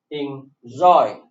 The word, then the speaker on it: enjoy: In enjoy, obey. So please take notice. Take notice here. Enjoy and obey. The stress is on the second syllable.